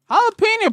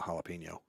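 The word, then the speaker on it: jalapeño: who do but he had Spanish inflection on the jalapeno jalapeno first if you're if you're going to pronounce it shouldn't you try to pronounce it in the proper tongue jalapeno yes what he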